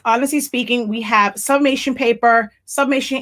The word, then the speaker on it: Spinking: We are also the home of Honestly Speaking, and that's SPINKING. It's a play on words, but you pronounce it speaking, because you know your